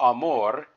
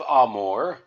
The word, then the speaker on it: Amore: that would help you so the first syllable in ah or Amore you would see an A and you would say ah like you're opening your mouth for the dentist and then more the end of Amore or the second syllable of Amore you would just say more just like you would in English so one clue or